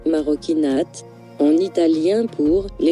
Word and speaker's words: marocchinate: Maroquinate, maroquinate, maroquinate, maroquinate, prononcé maroquinate, en italien pour « les actes des Marocains